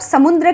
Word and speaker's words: समुद्र: स म छोटी उ की मात्रा द के नीचे उल्टा वी शेप का जो लिखते हैं, इससे र का साउंड बनता है, द्र।